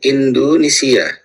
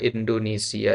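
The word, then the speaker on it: إندونيسيا: Kalau ejaan Arabnya Indu, ya. Ya, biasanya orang Arab itu bilang Indonesi, ya. Indonesi, ya, Indonesi. Nah, ana min Indonesia, boleh ya, juga mengatakan ana min Indonesia. Ya, ya, dua-duanya boleh.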